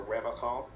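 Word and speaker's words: Revachol: But someone has to stay strong for Revocol. He pronounces Revocol with a hard K.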